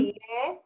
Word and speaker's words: תהיה: תהיה עצמך.